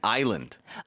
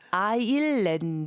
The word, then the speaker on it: Ireland: To me, a lot of times it sounds like people are saying island. Oh, so it's Ireland. Ireland. Like you have to hit the hard R.